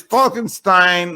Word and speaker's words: Falkenstine: And finally, he told me it's Falkenstein like a good wine.